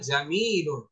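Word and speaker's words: جميلٌ: সুন্দর সুন্দর আরবি হচ্ছে জামিলুন জামিলুন আমরা মানুষের নামও রাখি জামিল জামিন রাখা হয় তো এখানে আরবিতে উচ্চারণটা এভাবে হবে জামিলুন জামিলুন অর্থ সুন্দর এরকম হচ্ছে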